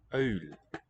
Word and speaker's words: uil: Uil. So Dutch has these nice diphthongs that you won't find many other places.